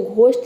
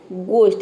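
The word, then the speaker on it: ghost: यहां प देखिए घोस्ट इसको घोस्ट नहीं बोलते हैं इसको बोलते हैं घोस्ट यहां पे जी एच को हम ग प्रोनाउंस करते हैं क्योंकि ये वर्ड के शुरू में आ रहा है अब देखिए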